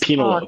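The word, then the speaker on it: Penélope: It's pronounced Penelope.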